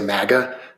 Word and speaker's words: MAGA: I always say MAGA, but I've heard it pronounced MAGA too.